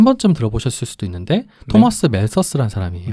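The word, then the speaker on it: Malthus: TH 발음이 멜더스라고 부르죠. 멜러스라고 부르기도 하고요.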